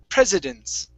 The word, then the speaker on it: presidents: this pres presidents so you need to pronounce the i after that s presidents president president okay one